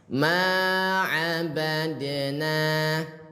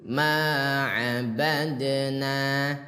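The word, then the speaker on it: مَا عَبَدْنَا: Cara baca pantulkan se sedikit. Ingat pantul ya. Jadi cara bacanya ma abadna sekali lagi ma abadna.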